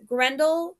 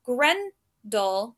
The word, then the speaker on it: Grendel: So Grendel, the fiend's name. So we have Gren and fiend. Those are the stressed syllables, and dull, the name, are the unstressed.